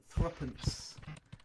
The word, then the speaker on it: threepence: And believe it or not, even though it looks like 3 pence, we pronounce it threepence.